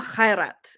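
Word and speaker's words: Khairat: one Egyptian does not know and love Omar Kat it's spelled KH h a i r a t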